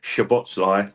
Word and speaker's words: Szoboszlai: best I can, boys, it's a Hungarian name, and so they're quite tough in how they pronounce stuff. But Szoboszlai is the best you're going to get off me, guys.